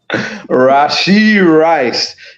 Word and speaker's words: Rashee Rice: And names it rhymes with Lachi Nice. Rashee Rice, your favorite receiver, Jay, had 8 catches for 107 yards and a touchdown.